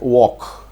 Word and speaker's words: walk: You know, when we write walk, W-A-L-K, there is some kind of a pronunciation happening for W-A and K, but not L. That L is called a silent letter.